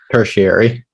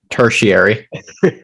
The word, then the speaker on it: tertiary: I say it right tertiary that's scary you see I always say well thank you okay yeah you kind of pretend there's a u there okay terse and Eerie are we comfortable with